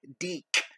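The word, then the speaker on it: DIC: And the reason why I say it like Deek is because that's how they would say it in the logo at the end of every episode.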